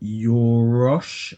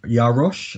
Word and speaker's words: Yarosh: next was um Danica yorosh Yarosh I think her name is pronounced she's um from Shameless